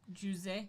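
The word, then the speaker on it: José: but he was Brazilian Jose uh yeah so in Portuguese we say Jose that's close so uh but it's it's spelled like we spell Jose here so you know the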